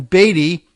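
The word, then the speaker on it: Beattie: party position but then also that of Colin Beatty if they pronounce it that way b-e-a-t-t-i-e it's former Treasurer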